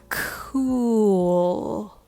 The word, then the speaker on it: cool: it sounds like cool i think the hardest part of this word is the connection between ooh sound and l sound when you say this combination of sounds you actually hear an extra sound in between and that's the w sound it's very subtle but it's there cool cool cool cool